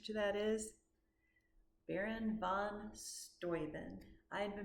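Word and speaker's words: Steuben: And the answer to that is Baron von Stoven. I had been pronouncing it stuben. It's Stoen.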